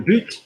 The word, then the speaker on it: but: If you've got le but, goal or football, le but, you're going to pronounce the T, okay?